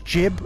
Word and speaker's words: gib: yeah i'm aware that the technical pronunciation is jib as in giblets but everybody's you everybody said gib so that's what we